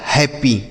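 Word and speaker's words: happy: और double P है तो अगर कोई भी अक्षर हो दो बार आता है तो उसमें एक को साइलेंट कर देते हैं और एक से लिखते हैं। तो पी से बनेगा आपका प और वाई से बनेगा बड़ी ई की मात्रा। यह लिखा गया हैप्पी।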